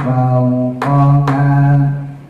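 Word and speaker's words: فَوْقَهَا: Matalam maba'u qadam fama fauqaha, nah haknya jangan panjang-panjang, cukup 2 aja. Fauqaha, udah, jangan ke bawah lagu. Fauqaha itu kepanjangan, jadi nggak rata ya, panjangnya harus rata.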